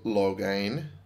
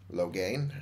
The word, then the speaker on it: Loghain: were betrayed by Terran loghain Loghain I think Terran loghain I think that's how you pronounce it I might be wrong rhymes with Rogaine as far as I'm aware and the king and